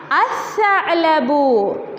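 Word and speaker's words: الثعلب: Can you hear? No. It is silent. We can hear the sound of sa only. Lam sound is silent. That's why I am writing sa also here.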